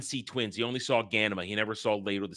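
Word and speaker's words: Ghanima: It's Ganima and Leto, not Ganana, whatever the fuck they pronounce it.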